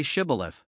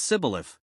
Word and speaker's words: Shibboleth: They asked every man to say Shibboleth. The Ephraimites couldn't pronounce it right, they said Sibboleth. That was their giveaway.